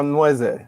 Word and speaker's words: Nweze: family is evo so in ibo the n and w is almost like the the n and k or the double l in spanish or the rolling r